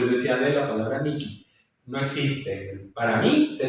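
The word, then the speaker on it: mihi: Mi nombre es, lo digo en español, en latín se dice mi menes, pero se escribe m i h i miji. Ni siquiera se dice mi ji. Sí, no es mi ji con j, es mi.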